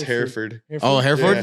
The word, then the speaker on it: Hereford: It's spelled like Hereford, but it's pronounced Hereford. Oh, Hereford? Yeah, Hereford. Oh, okay. Like hair and furred.